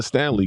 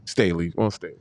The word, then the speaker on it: Staley: What's your thoughts on the possibility of Don Stanley getting a head coaching job in the NBA? Well, I think Dawn Staley. Staley.